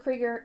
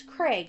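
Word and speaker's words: Kreg: Kger. Mr. It's Craig. It's there's not it's not an E R.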